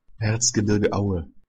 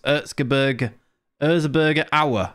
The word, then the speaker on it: Erzgebirge Aue: Erzgebirge Aue. So I'm close. Erzgebirge Aue. So I got the Aue bit right. Erzgebirge Aue. Erzgebirge Aue. Hossam Aue. Erzgebirge Aue. Erzgebirge Aue. Erzgebirge Aue. Erzgebirge Aue.